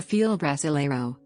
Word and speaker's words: Fila Brasileiro: fila brasileiro the field wrestlero portuguese pronunciation or brazilian mastiff is